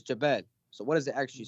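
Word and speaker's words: جبل: It's Jabal.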